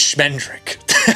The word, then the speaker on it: Schmendrick: It feels melancholy at first, and then it gets humorous with the introduction of a character whose name rhymes with Kendrick. It's Schmendrick.